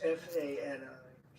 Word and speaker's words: Fani: She goes by the name of Fani, even though it's F-A-N-I. She wants it pronounced Fani.